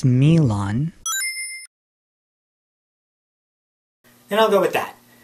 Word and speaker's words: Milon: Well, in Japanese it's Milon.